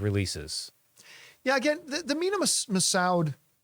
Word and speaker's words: Massoud: yeah again the minimum massoud uh or Masood I think is the way it's properly pronounced a re-releases sorry that's